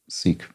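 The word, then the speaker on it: Sikh: mandated surname for sick seek men I think it's more properly pronounced sick but it's I find that that confuses people um sing yeah there we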